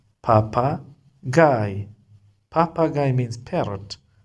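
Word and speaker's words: Papagei: When you face IE, you have to pronounce I like this GIE, guy, papa, guy, P, papa, guy. Papagay means parrot.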